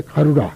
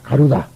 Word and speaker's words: 가루다: 그다음에 가루라 가루다. 가루라가 아니라 가루다입니다만는이 중국말로이다. 그 우리는 나라고 발음합니다만 중국 사람 다라고 발음한 거 아십시오. 중국 사람은 다로 바음해요.